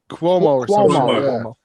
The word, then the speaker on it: Cuomo: say his last name its quick wall might Cuomo Cuomo like okay like with a Q calm